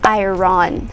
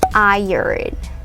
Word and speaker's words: iron: a tricky pronunciation so i usually hear this as pronounced as iron but it doesn't um it's not pronounced that way it is pronounced as iron iron say it yes it's iron iron yeah it's a chemical